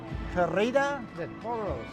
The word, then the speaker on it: Corrida de Toros: Carreta de Toros is how I've been told to say it by one of my Hispanic friends.